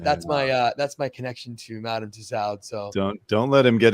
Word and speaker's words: Tussaud: Usually in French you don't pronounce the D, so Tussaud, right?